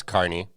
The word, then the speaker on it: Kearney: was from kearney you didn't know how to pronounce carney kearney okay i know you say texas is